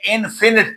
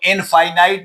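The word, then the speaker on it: infinite: This this word is प्रोनाउ pronounce as फाइनाइट। फिनिट ना पढ़ना। मगर ये जो है नंबर थ्री ये इनफिनिट पढ़ना है। इसको इनफाइनाइट ना पढ़ लेना।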